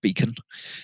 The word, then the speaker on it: BEACN: I assume it's pronounced Beacon. It's got no O in it, but you know it's got to be Beacon, hasn't it?